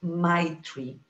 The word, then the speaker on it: Maitri: You have to smile to pronounce it, Maitri.